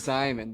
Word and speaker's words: Szymon: The Z is Simon. That's what I almost just said. Holy shit. No, it's Simon. The S is silent. I personally want to kind of see more out of Cohen Carr.